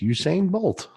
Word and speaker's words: Usain Bolt: Usain Bolt okay well that guy says it's Usain Bolt you say and there you have it I